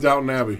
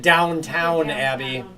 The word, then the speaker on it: Downton Abbey: What did I do wrong with Downton Abbey? You probably didn't spell it correctly. Did I spell it wrong? You said Downtown Abbey. I said Downtown Abbey? You did.